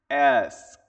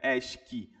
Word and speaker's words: ask: Ask. Ask. Esse tem um um no final, né? É, né? Esk, não. Ask. Ask. Ask. É bem suave.